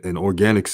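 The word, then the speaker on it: Organix: spelled a i n i organics and and organics is spelled o-r-g-a-n-i-x so i'm just giving an example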